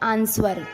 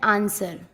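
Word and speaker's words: answer: जब एस के बाद डब्लू आता है तो भी डब्लू नहीं पढ़ा जाता, डब्लू साइलेंट रहता है। जैसे आंसर। कुछ लोग इसको बोलते हैं आंसर, तो वो गलत है, इसको बोलते हैं आंसर।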